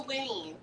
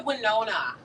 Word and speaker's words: Winnie: Oh, Jillian said it's the Winnie. The Winnie? I said the Winona. I had half. I just added a syllable.